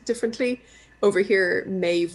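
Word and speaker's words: Meadhbh: Over here, Maeve would be spelt like M-A-E-D-B-H. There's a lot of like D-B-H's in Irish that are pronounced just V.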